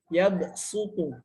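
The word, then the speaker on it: يبسط: Teman-teman bisa buka Quran surah Al-Baqarah ayat 245, maka boleh dibaca shad atau sin gitu ya. Yabsutu.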